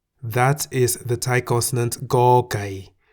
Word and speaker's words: ก ไก่: That is the Thai consonant Go Gai, which we can summarize as a consonant that sounds like the G in the word get at the beginning and end of a syllable.